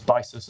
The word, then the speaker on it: Byssus: Jen Hadfield's, I can't remember how to pronounce this, whether it's Bysus, I think it's Bysus rather than Byssus, isn't it?